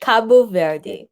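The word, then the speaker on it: Cabo Verde: as we would verd cape verde as we say in english but in portuguese the proper pronunciation is you gotta help me out here okay kabu verde this is a new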